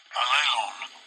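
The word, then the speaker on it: allelon: Strong's G-240, Alelon.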